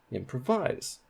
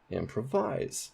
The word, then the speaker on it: improvise: primary stress on wise improvise improvise we don't say that when we speak we say improvise so that primary stress is on em what about applaud applaud